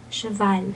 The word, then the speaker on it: cheval: And do say the ending L. I know that's not in the rules of pronunciation. I mean, well, it's an exception of the rules of pronunciation, right? Okay. Yeah, okay. But in this case, we do say cheval.